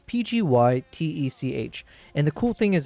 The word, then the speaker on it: PGYTECH: Because, yeah, it's from a company called Pidgeytech. Actually, is that how you pronounce it? I keep saying Pidgeytech. But it's Pgytech.